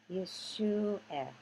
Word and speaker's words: Yeshua: Yeah, shoe, because the ooh goes with the shin. Yeshua. Yeshua is like Medina.